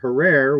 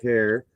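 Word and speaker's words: Herer: know like Jack hair I always pronounced it Herrera which was wrong and I was told it's hair like Terror so my Jack Herrera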